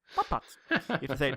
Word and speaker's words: BotBots: BotBots. You have to say it like that.